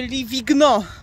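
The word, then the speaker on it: Livigno: warto się czyta po włosku ale mówi się Leaving no Jezus pisze się ligno także tutaj jest bardzo fajna miejscówka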